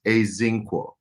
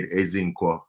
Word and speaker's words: Ezinquo: It's spelled with an E, but it's Ezinquo. When I'm in Nigeria, I say Ezinquo because it has the tone is everything.